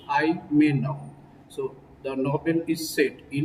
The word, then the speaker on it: Ayemenem: Just forget about the spelling of the word. Just think about the pronunciation of the word Imenam.